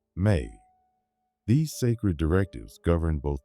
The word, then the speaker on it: me: The Sumerians believed that the gods had crafted a foundational set of cosmic decrees called me pronounced may.